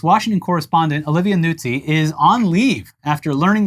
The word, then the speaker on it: Nuzzi: I mean, the Italian pronunciation would be Nuzzi. But Nuzzi.